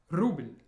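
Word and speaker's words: рубль: Notice the soft sign at the end, which tells us that the L before is soft, meaning it's pronounced more at the front of the mouth, like an L sound, ruble, as opposed to football.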